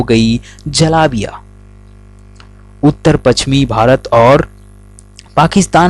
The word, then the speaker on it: जलेबी: जी हाँ, तो चलिए आज हम अपने खूबसूरत सा चैनल जनरल नॉलेज के द्वारा आपको बताते हैं कि जलेबी की शुरुआत कैसे हुई और इसका इतिहास क्या है।